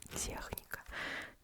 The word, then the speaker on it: техника: Most of the CH words in English are pronounced with K, in Russian with H.